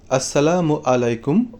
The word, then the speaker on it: আসসালামু আলাইকুম: সম্মানজনক অভ্যর্থনামূলক ইসলামী অভিবাদন হলো সালাম সালামের সঠিক উচ্চারণ আসসালামু আলাইকুম ওয়াহমাতুল্লাহি ওয়াবারাকাতুহ এবং সালামের উত্তরের জবাব হলো ওয়ালাইকুম